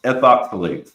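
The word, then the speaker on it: ethoxylates: Ethox e is eth oxilates. Ethoxilates. I'm sorry. That's how you say it. Ethoxilates.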